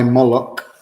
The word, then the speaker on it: Molok: My Moolok, I've given it a K just to give it a harder sound at the end, is similar to that.